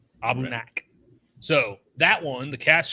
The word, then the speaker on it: Aberlour: Jonathan Herring corrected me on my pronunciation. Sounds right. Abunak.